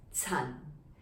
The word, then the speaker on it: Chan: written like this and it is pronounced in cantonese as sun now remember yale in